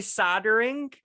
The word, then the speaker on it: solder: with an l what solder is spelled with an l is it yes when you say soldering it's s-o-l-d-e-r-i-n-g soldering and then here we